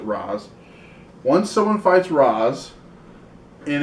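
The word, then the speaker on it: Ra's: once someone fights roz it's actually race but they pronounce it raz once someone fights roz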